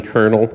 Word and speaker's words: colonel: Colonel you know like a like an army colonel is that is that an English word a hard one I don't know it's spelled spelled like a colonial it's a strange